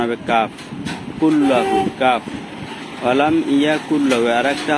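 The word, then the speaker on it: قُلْ: হবে ঠিক আমি যেভাবে উচ্চারণ করেছি এইভাবে সবাই উচ্চারণ করার চেষ্টা করবেন আবার ভালো করে শুনুন কুল এই কফটা কুল গলার মাঝখান দিয়া কুল বলে যেভাবে উচ্চারণ এরকম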